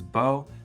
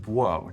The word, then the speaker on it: -bo: Now, for some speakers, they always pronounced that bo, but other speakers had variation between pronouncing it as bo and buo, depending on context.